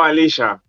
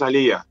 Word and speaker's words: Aaliya: Yo, Alilla. Por Argentina, ¿no? Pero en realidad es Alilla la pronunciación.